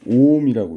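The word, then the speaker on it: 옴: 자, 그리고 여기 그리고 단위는 이렇게 말발굽 모양의, 이것도 이제 그리스 알파벳의 한 종류인데 오음이라고 읽어요. 오음.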